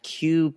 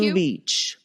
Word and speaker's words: Kew: Story number 1, the 1945 Q Beach riot. Ooh, okay. Love a riot. Beach. Yeah, love a riot. You're going to hear all about one. Q like the letter Q Q? Beach. It's spelled K-E-W.